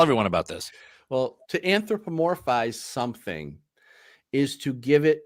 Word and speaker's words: anthropomorphize: I had a heck of a time trying to pronounce it. Anthropomorphize.